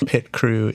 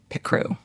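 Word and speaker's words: Picrew: Pit Crew is the platform that allows you to make an avatar generator.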